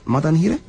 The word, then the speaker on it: Madanhire: Is that how you pronounce it? Madanhire? Yeah, that's correct.